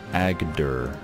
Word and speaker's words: Agder: Agder. That's a very difficult province to pronounce. Agder. There you go. Okay, we're all above zero, so these sieges should finish somewhat soon, I hope. Agder.